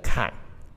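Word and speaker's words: 凵: 下一个坎，它通这个坎，凹下去的地面。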